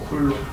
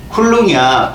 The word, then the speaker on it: 쿨롱: 이렇게 읽었는데이 뭐라고 읽어야 돼요? 콜로. 아, 했네. 아, 사전지식 뭐 그럴 수도 있겠지. 쿨롱이야. 쿨롱 kg이 아니야.